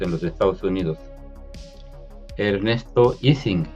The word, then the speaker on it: Ising: los Estados Unidos Ernesto ising que lo pronuncian iing pero pues este señor era de Suecia no no no es así su apellido no la